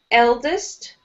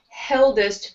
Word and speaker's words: eldest: Say eldest. Eldest. Try with just the eh sound, so not heldest, but I want eldest.